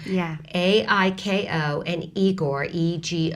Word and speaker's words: Aiko: the ICO spelled is that the way i pronounce that a CO or iko iko iko yeah ai ko and igor EG 0 r tell us about